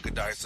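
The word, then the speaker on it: Giudice: How do you pronounce the last name? Gooddice? Yeah, Gooddice, uh-huh.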